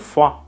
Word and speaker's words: froid: In French, il fait froid. Notice that the D sound at the end of froid is silent.